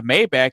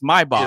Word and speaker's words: Maybach: Just like just like we all know what a Mayback is, but that's not how you say it. It's Maybach. It's Maybach.